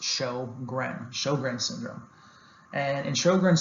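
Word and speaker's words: Sjögren: known as sjogren's syndrome so that's pronounced show gren sjogren's syndrome and in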